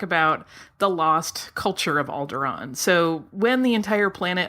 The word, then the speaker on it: Alderaan: to be talking about alderon uh and I pronounce it alderon but some people out there pronounce it alderan yeah and not me I and and so